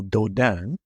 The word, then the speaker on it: Dodane: Because if you Google Dodin, and that's spelled Dodane, then you'll see similar watches.